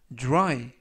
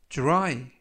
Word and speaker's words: dry: 이번 표현은 dry, dry, dry 라고 발음하시면 되겠고요. 이때도 역시 dr 발음이 drew, drew, 그래서 dry 라고 발음하시면 되겠습니다.